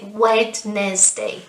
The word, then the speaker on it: Wednesday: syllable again isn't it remember we don't say wednesday no no no we say wednesday wednesday good what about